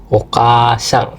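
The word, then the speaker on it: おかあさん: Nah, di sini contoh bunyi panjangnya itu ada okasang.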